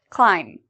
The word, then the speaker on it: climb: to listen for the pronunciation climb is there something in here we don't pronounce climb if you said B we do not pronounce the b you are correct what